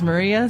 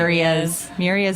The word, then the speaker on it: Myrrias: you read it but a lot of people do not read it as Maria so yeah what have what have been like the more common pronunciations Marias Mia Myas is a big one miras is a big one I guess like maybe from like Myriad it could yeah you